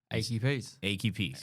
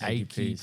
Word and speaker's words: Achey Peace: How do we pronounce the band's name? Achy Peace. Achy Peace.